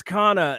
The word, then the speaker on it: Kana: on social media is Kana was it Kana is that how they pronounced it yeah oh she it's Kana and I was like